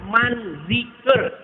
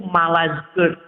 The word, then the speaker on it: Manzikert: Itu terjadi sebuah perang besar namanya perang Manzikert. Perang apa, Pak? Manzikert. Manzikert. Manzikert. Tapi yang biasa bicara bahasa Arab itu kesulitan, Pak. Ngomong gitu sehingga biasanya dibacanya itu Malazkert.